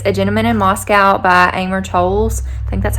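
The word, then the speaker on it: Amor Towles: it but it's a gentleman in moscow by amer tolls i think that's how you say his name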